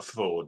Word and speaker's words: Fforde: always pronounce you for Ford like that so that I remember it's FS no it's it's single it's it's pronounced Ford like the car you know and aronovich